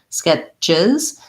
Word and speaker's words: sketches: ch sketches and then any word that ends in ch when we make it into the verb form or the plural that has the es ending is going to have and a z sound at the end chiz skip sketches sketches so lax and short on that sound and then voiced she sketches uh she